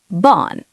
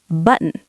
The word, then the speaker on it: button: And the American version? We say button. We kind of hold the N in our nose. Button.